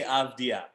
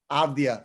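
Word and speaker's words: Avdija: avija thanks so much yeah what it's denny abdia abdia okay we are a very pro draft danny avidia however you want to say his last name what of dia of the uh any abdia okay we're gonna have to figure out a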